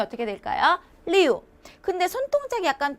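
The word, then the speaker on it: 六: 때는 약간 외부를 타듯이 우우 하시면 되세요 자은 발음이 어떻게 될까요 리우 근데 손동작이 약간 두 개랑 비슷하다는 거죠 조금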